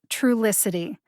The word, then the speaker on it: Trulicity: go trulicity true licity true licity has four syllables see if you can hear them true licity the emphasis is on the first syllable true like the word truly true licity now i